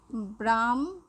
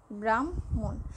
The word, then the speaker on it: ব্রাহ্মণ: দেখো ব্রাহ্মণ, এই যে যুক্তবর্ণটি, এই যুক্তবর্ণটি কোত্থেকে এসেছে, হ যোগ ম, ব্রাহ্মণ, ব্রাহ্মণের এই যুক্ত বর্ণটি হয়েছে হ যোগ ম, হ এবং ম মিলে এই যুক্ত বর্ণটি, তাহলে আমরা যখন ব্রাহ্মণ লিখব তখন কিন্তু উচ্চারণ হচ্ছে। যেমন যদি বলি ব্রাহ্মণ, ব্রাহ্মণ, এরকম আমাদের এই শব্দগুলোর সাথে